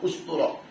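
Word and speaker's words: أسطورة: Jam'u usturah bid-dhammi, membacanya dengan dhammah, usturah. Au istara bil kasrah.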